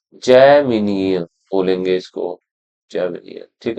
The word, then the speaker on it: जैमिनीय: ब्राह्मण लिटरेचर हमने देख लिया था, टांड्यम एंड जैन, ये है देखो जैमिनीय है ना, जैमिनीय बोलेंगे इसको, जैमिनीय।